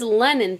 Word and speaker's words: Lennon: be like, what does Lennon think about all this? You know what I mean? And I hope I'm pronouncing your name right. Yes, you are. It's just like John Lennon.